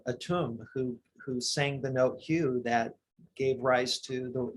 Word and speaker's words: Hu: Many people aren't aware that Atum, who is the original God that created the universe, it is said, sang this note, Hue, that's spelled H-U.